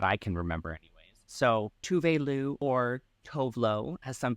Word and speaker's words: Tove Lo: saying like, yeah, no, because of the accent from where she's from, that's how it's pronounced. She also doesn't care if people call her Tove Lo, just because that's how it's spelt, right?